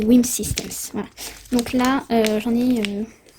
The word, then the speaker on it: Wim Systems: J'inverse tout le temps en fait, j'ai tout le temps Wish Me, mais non, c'est Wim Systems.